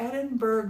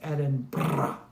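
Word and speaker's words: Edinburgh: When I first met Morton, I'm like, I was to Edinburg last year. And he's like, it's Edinburg.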